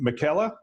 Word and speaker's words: Michela: Matthew how do you say your last name Michela yeah my Calot perfect thanks Bill perfect life